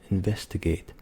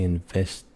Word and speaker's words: investigate: And another word, completely different, investigate. We would never say investigate and just skip the T.